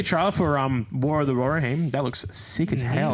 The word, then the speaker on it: Rohirrim: see a trailer for War of the Rohirrim.